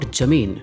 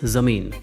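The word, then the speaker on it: زمین: For example, in Udu, it is not jamin, it's zamin, not gibb, but gibb, not karab, but karab.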